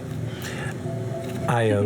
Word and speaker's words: Io: IO is a tabby. IO. It's spelled I O.